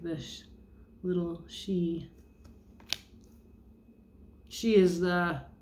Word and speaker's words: Sidhe: have the sun dance here like this little she. She is spelled Sidhe.